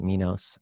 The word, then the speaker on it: Minos: to rome so uh my nose by the way people in europe usually pronounce it minos um it doesn't matter